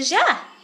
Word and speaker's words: ja: No, it's a ja. It's pronounced as yeah.